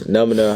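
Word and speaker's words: Nʉmʉnʉ: I feel like when you're Comanche, it's Numina, how you say it in the native language.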